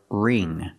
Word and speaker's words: wring: remove the water pronunciation the W is silent so we use the r sound r r ring the ing makes the long e sound like green beans so together ring and the NG makes